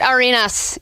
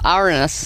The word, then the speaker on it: Arenas: All right, Gilbert Arenas is not the only one getting called sexist today. You got it wrong that time, too. Arenas. Mm-hmm. You're adding syllables every time.